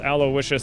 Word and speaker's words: Aloysius: Yes, I know it's pronounced Aloysius.